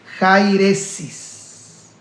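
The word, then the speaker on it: αἵρεσις: Etimológicamente, herejía en su pronunciación del griego es jairesis, que significa, o los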